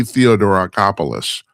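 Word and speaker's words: Theodoracopulos: Oh God, I got to look because I can't ever pronounce his last name, even though nobody uses it. It's Taki Theodorakopoulos, known as Taki.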